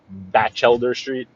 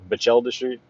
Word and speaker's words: Batchelder Street: Just like it's not Batchelder Street, it's Batchelder Street.